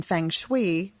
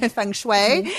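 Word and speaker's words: feng shui: well as kids spaces and you're certified in Fanggui. I'm sorry I'm mispronouncing fun. Funue.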